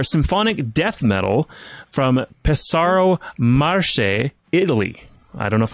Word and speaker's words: Marche: Marche. Pesaro Marche. Marche.